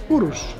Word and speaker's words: Urus: Well, we're gonna take the Urus off-road. How do you pronounce it? Urus.